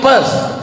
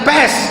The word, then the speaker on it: Perth: I am going to Perth. Bukan pest, kalau pest penyakit. Perth.